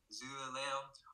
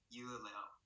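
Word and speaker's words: dưa leo: Megan's family resides from the north, so they would pronounce it like Zuleo. While my family residing from the south, we would pronounce it like Yuleo.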